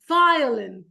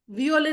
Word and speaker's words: violin: Century, hospital, animal, journalist, violin. Violin नहीं बोलेगा कोई. It's violin.